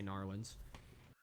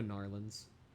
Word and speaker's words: New Orleans: then I'm one of those people that say Norland.